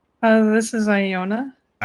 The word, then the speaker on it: Iona: Uh, this is Iona.